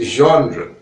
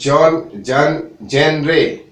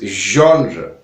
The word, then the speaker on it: genre: Pronounce this correctly, it's genre. Don't pronounce it genre or genre. It's genre. Pronounce it correctly.